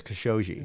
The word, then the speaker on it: Khashoggi: I know everybody pronounces so many different ways. I've heard it a lot now, and I believe it's Khashoggi.